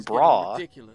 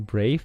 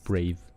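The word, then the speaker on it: Brawe: they pronounce it as Brave it looks like a uh like a w one yeah it's a w yeah but they pronounce it Brave I didn't make the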